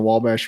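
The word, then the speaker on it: Wabash: yeah right across the W bash so if you go uh if you cross the W Bash that's how they say it in Illinois well yeah that's how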